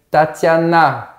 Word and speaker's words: Tatiana: prononce mais en français moi je l'appelle Tatiana je force la syllabe finale donc c'est toujours comme